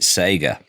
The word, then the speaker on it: Sega: I'm going to bring a third pronunciation into this, because in the UK we pronounced it Sega.